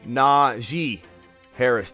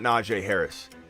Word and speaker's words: Najee Harris: worry smitty just fyi his name is pronounced na ji harris not najee harris naji harris well i